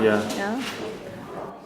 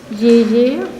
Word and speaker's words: E-E: Yeah. This is the title of the exhibition, and it's called Ye. Well, it's a double E, but in Russian it's pronounced Ye, and the formula is MC cubed.